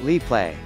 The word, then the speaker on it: Instax Mini Liplay: absolutely adore the Fujifilm Instax Mini Lee play pronounced Li play it an all new generation of hybrid instant